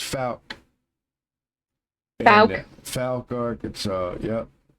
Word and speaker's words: Fouke: A lot of people don't know how to say it, Fork or whatever, but it's Fouke.